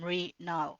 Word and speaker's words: Mrinal: And the way you say it is like saying tree, but with the M. So instead of saying tree, you say Mri and Mrinal. So that's how you say my name.